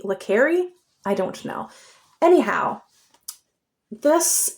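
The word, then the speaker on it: le Carré: I always pronounced it Lare, but I think it might be Leri.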